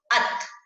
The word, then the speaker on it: अतः: ऐसे ही आगे हमें दे रखा है विसर्ग के बिना, इसको पढ़ के देखो कैसे है ये, अत। और जब विसर्ग लग जाता है तो उच्चारण कैसे करोगे, अतः।